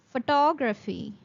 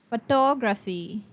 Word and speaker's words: photography: Now the word will be pronounced as photography. photography.